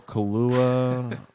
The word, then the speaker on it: Kaluuya: Daniel Kaluuya, I think is how you pronounce his last name.